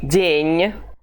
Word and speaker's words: день: the word day, день, you just pronounce it quickly, as if it were almost inexistent. День. If you don't include this I in the parentheses, it would be день, which is not correct for Russian.